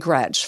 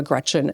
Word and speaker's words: Gretch: To be honest, my I'm named after my grandma Gretchen and grandma Gretchen always said, "Don't let people call you Gretch. It rhymes with wretch and that's not pretty, you know."